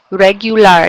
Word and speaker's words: regular: You hear the difference between how we would say it in English, even though it looks the same, spelled the same, right? Regular. You can hear each of those vowels.